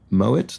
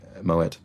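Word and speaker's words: Moët: the two men Mo Moet uh was French he was of German I think descent and and pronounced his name with the hard t as it would have been traditionally and that that remains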